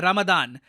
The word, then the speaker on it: रमदान: पूरा इलाका है ना, यहां पे हम लोग कहते हैं रमजान। वेराज जो अरब वर्ल्ड है और जो मिडल ईस्ट का बाकी पार्ट है, वहां पे वो लोग कहते हैं रमदान। तो प्रोनाउंसिएशन का फर्क है, बाकी Ramzan रमदान they are both the same.